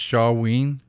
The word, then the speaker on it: Samhain: I guess it's pronounced Shawween.